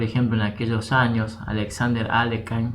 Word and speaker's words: Alekhine: Básicamente, ya por ejemplo en aquellos años, Alexander Alekhine, bueno, Aliogin es la pronunciación, criticaba esta jugada G6